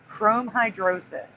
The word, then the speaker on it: chromhidrosis: So the case of the orange sweat, chrome hydrosis. I kept saying chromo, and I don't know why it's spelled with a Y at the bottom, but it's an I.